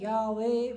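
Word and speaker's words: Yahweh: So, what they do is that, to make YHWH, that means, sorry, to make YHWH easily spellable, they added this word called as A and E.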